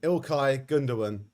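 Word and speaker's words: İlkay Gündoğan: man at the moment ilkai gundawan which i've pronounced correctly for the first time in my life i did loads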